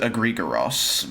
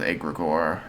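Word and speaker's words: egregore: Greek pronounces it egregoros, but French pronounces it egregor.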